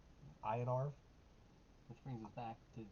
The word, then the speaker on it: Iniarv: how that's pronounced either it's in n i a RV inar is what I would say in arv which brings us back